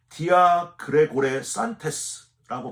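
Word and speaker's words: διαγρηγορήσαντες: 디아그레고레 산테스라고 발음을 하는데이 단어는 스스로 이러면 안 되지 하고 정신 차리고 깨어났다 그럴 때 쓰는 단어가 아니고요.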